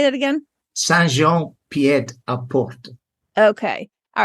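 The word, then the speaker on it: Saint-Jean-Pied-de-Port: Saint-Jean-Pied-à-Port. Okay. All right. So for my English spelling, I would say Saint Jean Pied de Port.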